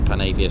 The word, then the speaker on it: Panavia: I've been saying Panavir since I was a kid, but I know it's Panavia.